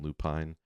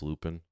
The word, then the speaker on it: Lupine: correct pronunciation So and I've heard both ways just like Lupin Lupine I've been told it's loopin so that's what I'm rolling with but um Shakura